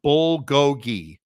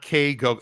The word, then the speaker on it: bulgogi: Dude, that Korean steak is pronounced bulgogi, and it's awesome. Okay. Cool. Bulgogi, not K-go.